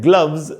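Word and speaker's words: gloves: ये भी वर्ड ई से खत्म हो रहा है, ई का उच्चारण नहीं होता, साइलेंट होता है, इसलिए ई को काउंट नहीं करेंगे, वर्ड वी पर खत्म हो गया ऐसा मानेंगे, और इसमें रूल एस का जेड वाला लगेगा।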